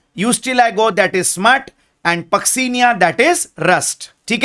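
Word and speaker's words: Puccinia: Okay, and ये जो last में आपको दिख रहा है इसका नाम है पक्सीनिया। सी the pronunciation is नॉट पुक्सीनिया, it's called as पक्सीनिया। एंड पक्सीनिया is responsible for causing a disease called rust, इसलिए उसको रस्ट फंगस भी कहते हैं।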